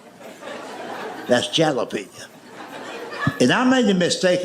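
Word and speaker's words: jalapeño: That's jalapeno. And I made the mistake of trying to explain that to him. I said, I know it's a J, but it's pronounced with an H.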